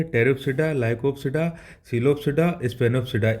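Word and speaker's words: Pteropsida: इनमें ये चार ग्रुप है, टेरिप्सिडा, लाइकोप्सिडा, सिलोप्सिडा, स्पेनोप्सिडा। इसमें हर जगह पी साइलेंट है, जितने बच्चे इधर देखो, टेरिस पे ये पी साइलेंट है।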